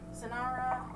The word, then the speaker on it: Sonara: Is it Sonara, or do you pronounce it differently? I'm just checking easy. Okay, I was pronouncing it correctly.